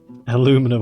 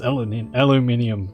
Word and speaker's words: aluminium: Aluminum, I don't get these Americans. Aluminium. Yeah, aluminium is... It's a proper way to say it.